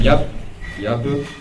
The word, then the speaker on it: Jappe: Donc, Anselm Yappe, ça s'écrit Jappe, qui enseigne la philosophie